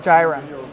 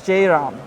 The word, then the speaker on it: Jairam: The one in my country, my original country, which is Trinidad and Tobago, they pronounce it Jairam. But in India, the proper pronunciation is Jairam.